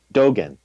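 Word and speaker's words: Dōgen: Dogen.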